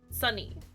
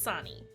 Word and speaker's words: Sunny: It's Sunny, Marty. Sunny, not Sonny.